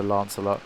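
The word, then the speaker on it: Lancelot: I swear it's a lance a lot again sometimes I get caught up with these pronunciation things I always saw English people pronounced it as Lance a lot that's how I remember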